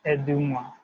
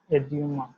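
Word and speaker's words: à demain: It simply means eduma, eduma, right? E will be delivered as you, eduma.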